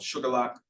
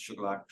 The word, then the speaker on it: Shuqualak: My grandfather was born in a tiny town in Mississippi called Sugarlock, spelled like Shuqualak, but pronounced Sugarlock.